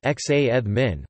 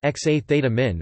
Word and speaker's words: jazmín: There is a certain amount of free variation in this, so that jasmine can be pronounced xa theta min or xa eth min, both in casual and informal speech.